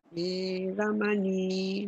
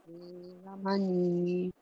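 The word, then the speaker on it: veramaṇī: Veramani. Sikkhapadang. Samadhiyami. Try again, number 3. Kame cha chara. Kamisu. Michachara. Veramani. Sikkhapadang. Samadhiyami. Very good. Okay, remember, don't rush the Veramani. Veramani. Veramani. Veramani. Ah, Veramani.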